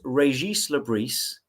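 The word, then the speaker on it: Régis Le Bris: heard of him um it's but it's it's pronounced Reis Labris Right.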